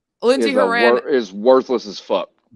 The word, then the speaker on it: Lindsey Horan: but she is a extremely Raw Talent yeah Lindsay Iran Lindsey Horan is worthless as I like